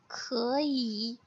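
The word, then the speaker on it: 可以: तो second example है खई. सो फर्स्ट सिलेबल की थर्ड टोन सेकंड टोन में कन्वर्ट हो गई है, सो इसकी प्रोनाउंसिएशन हो जाएगी इट्स लाइक खई खई.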